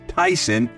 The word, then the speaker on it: Theisen: today I got Tyson and Tyson is spelled t h e i s n it is all right it's not ty not not Mike Tyson no but Tyson spelled completely different and